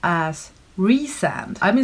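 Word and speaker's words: Rhysand: to see how i would come to enjoy rye sand and ferry as a couple apparently though i found on the last page of the book there's a pronunciation guide so ryzen is apparently pronounced as re-sand i've been saying rice and this whole vlog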